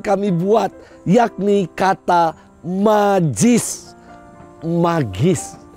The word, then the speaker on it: magis: Magis, dibacanya magis.